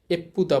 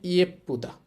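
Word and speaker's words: 예쁘다: নিচে দেখেন আমাদের ব্যতিক্রম উদাহরণ একটা দেওয়া আছে এই শব্দটা এটাকে কিন্তু আমরা সহজে বা সংক্ষেপে এপুদা বলবো না এটার উচ্চারণ হবে ইয়েপুদা এই যে এটা হচ্ছে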